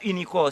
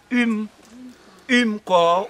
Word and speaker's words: UMCOR: unique fait nous dit déjà c'est et pas unicor c'est umcor ou bien umcor c'est umcor meplel pour si mal prononcer pour Haïti mission oui c'est umcor Haïti